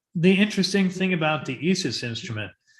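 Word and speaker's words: IS☉IS: alchemical symbol and um if you look at the nasa webpage they say it's pronounced like e-sis but if you listen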